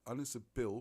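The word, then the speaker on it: Ynys Bwl: Bull is spelt wrongly, B-W-L. Ynys Bull with a Y is the place of the Ark.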